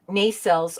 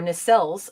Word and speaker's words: nacelles: first time the inside uh nacelles or nacelles of the enterprise appear on screen i'm going to pronounce it both ways because everybody is so